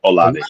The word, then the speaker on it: Olave: Olave.